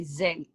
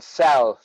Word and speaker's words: Zelle: By Zelle. Yeah. So I Okay. thought you were saying cell, but yeah, Zelle.